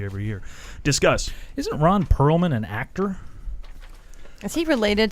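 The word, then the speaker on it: Perelman: Control shareholder Ronald Perlman. Okay. It's not the same. P-E-R-E-L, and I don't know Oh. business. I know you- movies, so I know. You didn't pronounce the extra E. It's Perlman.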